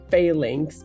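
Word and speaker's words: Falinks: it should be pronounced fall lings like fall in links like they fall in a link as in a chain they're a line they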